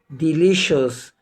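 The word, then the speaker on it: delicious: بتاعنا مقطع مهم جدا وقلنا ما بينطقش السي لوحدها طبعا السي اي والسي اي اي والسي اي او مع بعض بتنطق شين يا رب يكون الفيديو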